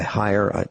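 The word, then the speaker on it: Haier: at some made by higher H a ier I think that's how it's pronounced I think that's how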